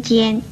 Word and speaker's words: 歼: 与纤字相似的有尖跟颤这两个字，尖字的国语注音是鸡烟尖，一声尖。